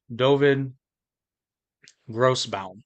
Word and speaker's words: Dovid Grossbaum: host Jake and I joined today by Ravi doin gross bound did I get that right you nailed it